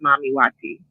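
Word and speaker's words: Mami Wata: ocean God that you had mentioned from Africa mamati mamy Wati is actually pronounced mamy Wati wat and that means Mama water and Arisha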